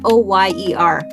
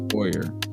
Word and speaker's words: foyer: Foyer. How do you say it? Go. Foyer. No. What do you say? It's foyer. It's French. Yeah, it's French.